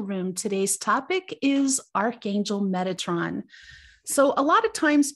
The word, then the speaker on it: Metatron: we're going to start with his name and metatron's name has means one who guards or one who serves behind god's throne it's pronounced metatron just in case there's any confusion